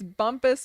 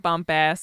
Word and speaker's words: Bumpass: a throwback Bumpus Bumpus we discovered that it's Bumpus Virginia not Bumpass if you ever come